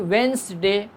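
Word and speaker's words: Wednesday: यौमल Arabia यानी वेंसडे, D silent माना जाता है, वेंसडे, ठीक है, जिसको आप कहते हैं उर्दू में बुध, ठीक है।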